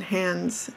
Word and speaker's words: Hans: And he even told us he likes the pronunciation Hans. I keep saying Hans.